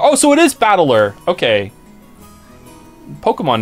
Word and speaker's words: Battler: try the problem is my given name is made up of characters for fight and person and it's pronounced battler oh so it is battler okay Pokemon name put